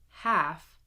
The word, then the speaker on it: half: Skill practice: silent L. Do not pronounce the L. Here we go. Would, should, could, walk, talk, half, chalk, salmon.